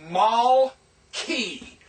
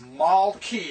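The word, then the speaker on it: מַלְכִּי: and that's the syllable the next syllable H and yod so this is Mal key that's how you know how to pronounce it because of that shavah this is Mal key it will close the syllable remember in Hebrew every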